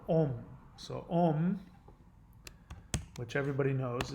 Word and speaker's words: Om: sound affixed to them many people see this ng sound written as M in English as in the well-known mantra sound ohm but in actuality this M sound is pronounced ng the back of the tongue is placed on the roof of the mouth as the mantra is chanted resulting in a vibration